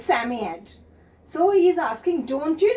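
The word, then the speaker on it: Psammead: sami yet not children how to pronounce this word sammy yet here p is silent just break the word sam e is here so it becomes sammy and ed it becomes sammy ed so he's asking don't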